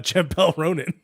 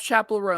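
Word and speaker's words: Chappell Roan: only uh champel Ronin so which I don't even think I said the name correctly I'm just saying it how I think it's spelled it's a champelle chapel chapel it's chapel rone chapel rone I list that whole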